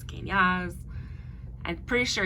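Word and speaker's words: Kenaz: All right, so our next one is Kanaz, whichever way you were to pronounce Kanaz. I'm pretty sure it's pronounced Kane, like Kane, and then Az, Awze, Az.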